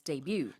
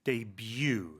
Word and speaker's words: debut: it's become more normalized I think and the pronunciation of course is debut debut so the letter U debut yes make a